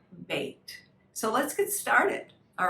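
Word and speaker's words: בית: the word bet but it's actually an a y sound bait so if i was to spell it as it sounds it would be b-a-y-t or sometimes you know you can have a bait box right like all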